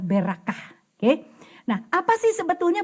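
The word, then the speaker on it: ברכה: yaitu hei gitu ya Sehingga bacanya jadi berak kah sebetulnya berkat itu bahasa ibraninya adalah berak kah oke nah apa sih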